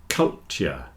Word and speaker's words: culture: get cult cult but if you're speaking quickly the T joins together into a CH and you'll get culture just like in future